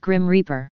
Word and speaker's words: GRIM REAPER: via modern computer technology referred to as the GRI Imre PR group - mission computer replacement program pronounced Grim Reaper another upgrade to the